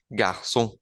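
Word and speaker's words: garçon: por ejemplo le garón le garson con la cedilla que suena como una s le garson garson traduce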